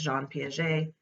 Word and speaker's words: Jean Piaget: His name is French, obviously, so the correct way to say it is Jean Piaget. I've heard people say Jean Piaget, all kinds of different things, but if you put the French accent on it, it's Jean Piaget.